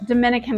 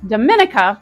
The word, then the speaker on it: Dominica: Now, don't get confused because this is not the Dominican Republic, and it's not pronounced Dominica.